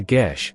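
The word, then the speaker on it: geis: A gis, pronounced a gish, is a binding magical taboo, oath, or prohibition imposed on an individual.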